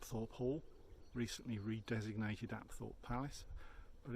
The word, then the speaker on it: Apethorpe: I learned last week it's not Thorpe at all its app thought app thought I guess that really